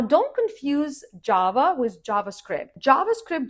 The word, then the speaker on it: JavaScript: JavaScript, just like Java, again, the stress is on the first syllable and the sound is like in jam or jacket, plus script, like movie script, you know?